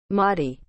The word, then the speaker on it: Mahdi: the world and restore justice and religion mahdi is spelled m a h d i marty